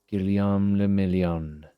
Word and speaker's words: Guillaume le Million: Guillaume le Million. Guillaume le Million. If it doesn't rhyme, you're not pronouncing it right. Guillaume le Million.